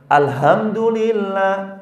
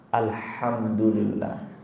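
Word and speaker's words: الحمد لله: Maka kalau ada imam yang baca alhamdulillah, kehancuran bagi Allah. Bacanya maka bukan alhamdulillah, tapi alhamdulillah.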